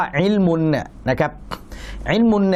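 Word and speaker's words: عِلْمُ: ว่า อิมุ อิมุ เนี่ย มี ตัว อีน กัเ เราะห์ ลาม สูกู มีม นะ ครับ ดอม มะ อิมุ อ่าน ว่า อิมุ เนี่ย นะ ครับ อิมุ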